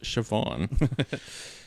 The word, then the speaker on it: Siobhan: in what we do in the shadows to shabaan felon Hogan I believe this how you say your name oh yes name is pronounced Siobhan okay Seymour things should do that how you